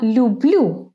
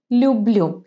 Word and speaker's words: люблю: And then he says я люблю русский язык, and we come across another verb here, love, любить, to love.